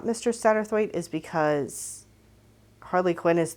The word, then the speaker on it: Satterthwaite: Apparently, according to Google anyway, it's pronounced Satterthwaite.